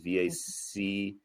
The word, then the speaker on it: Vacqueyras: with the appellation, which is Vaccarèse, which is Vacqueyras.